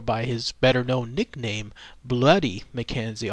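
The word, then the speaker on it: Bluidy: his better known nickname bloody McKenzie although it's spelled b UI d y I believe they're trying to make it seem bloody m y back then that that's what it was said or the way it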